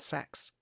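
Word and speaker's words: seaxes: look through this spread sayaxes uh depending on how you want to pronounce that some people just pronounce that sex sex sex um that's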